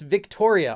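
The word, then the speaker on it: Wiktoria: Okay, it's pronounced Victoria. All right, I was thinking maybe it's just pronounced with a V, but spelled with a W.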